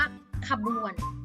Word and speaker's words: ขบวน: อ่ะ แค่ ครึ่ง เสียง ขบวน ไม่ ใช่ ว่า ค่ะ ไม่ ใช่ ขบวน จะ อ่าน ว่า ขบวน ขบวน ออก อ่ะ แค่ ครึ่ง เสียง มา แล้ว นะ คะ